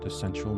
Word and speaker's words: Decential: It's DECENTIAL, so it rhymes with essential. It's kind of like decentralized and essential put together.